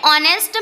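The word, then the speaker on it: honest: एन ऑनेस्ट मैन. यहाँ हमारा first letter consonant है एच, बट जो प्रोनाउंसिएशन है वो ऑनेस्ट हुआ है, मीन्स हमने जो प्रोनाउंसिएशन किया है वो एक वोवेल साउंड है.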